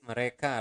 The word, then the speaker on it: mereka: So again, you want to pronounce the letter R clearly. Mereka, not mereka, but mereka makan setiap hari.